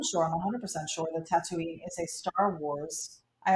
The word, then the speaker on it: Tatooine: If there's lightning involved, um, Robert Speer said, "Hello from Tatooine." Is that how you say it? Oh, that's Tatooine, yeah.